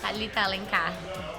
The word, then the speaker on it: Thalita Alencar: Thalita Alencar.